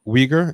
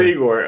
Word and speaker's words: Uyghur: yeah but uh uyghur is that how you pronounce it oh oh igor uh like uh it's closer how you say like soy or like oi like more closer it's not not exactly but yeah not not weaker how most uh western